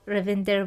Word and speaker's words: Ravinder: First of all, Ravinder, welcome to the show.